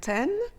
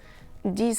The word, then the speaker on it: dix: 10 amis, 10 friends. And when it's followed by a consonant, the letter X is simply not sounded.